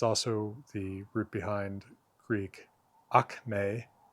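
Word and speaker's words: ἀκμή: It's also the root behind Greek akme. Akme root accent is on the second syllable there. Uh which is the acme, right?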